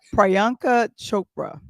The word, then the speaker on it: Priyanka Chopra: Yeah, Priyanka Chopra, that's how you pronounce her name.